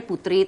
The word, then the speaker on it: Poetry: Sebenarnya tuh poetry itu bahasa Sanskerta, which is dibacanya putri, tapi semua orang ngomongnya potre, ya udah nggak apa-apa, akhirnya keterusan sampai sekarang potre.